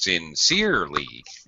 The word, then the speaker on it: sincerely: oh you're you're a syllable stress sincerely should be second syllable yeah that's it exactly